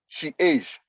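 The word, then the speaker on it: chage: e c h a g e is is pronounced she age so change age so for instance it that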